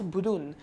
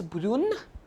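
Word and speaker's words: brune: pronounced all four as burun but that's not the scene like only this and this since there is an e at the end to be pronounced as broon and these two will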